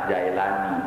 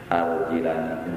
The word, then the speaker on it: Al-Jilani: Udah enak Jailani, tapi jujur aja salah itu. Salah. Yang bener Al-Jilani, jimnya kasroh bukan fathah.